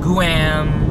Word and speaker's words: Guam: i live in this island it's called guam it's spelled g-u-a-m guam guam well you know you can pronounce it any